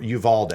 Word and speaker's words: Uvalde: A grand jury's indicted two for Uvalde.